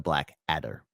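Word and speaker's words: Blackadder: and also I realized I pronounced it wrong the Black Adder not Adler I don't know why I put the L in there but some hey look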